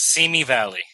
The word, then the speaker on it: Simi Valley: Now, you're speaking with us today from Simi Valley, or is it Simi Valley? How do they pronounce it? It's Simi Valley.